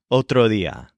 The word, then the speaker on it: otro día: Practice saying otro día as kind of a lazy D, not fully pronounced.